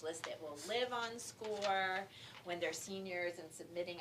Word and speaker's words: SCOIR: It's called SCORE, which is a tricky name because it sounds like test score, but it's spelled SCOIR. And Commonly mispronounced Squire.